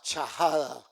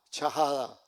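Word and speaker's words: shahada: Se le llama chajada. S h a h a d a chajada.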